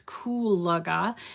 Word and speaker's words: Kulaga: She said it's Kulaga. So I want to make sure I pronounce it right.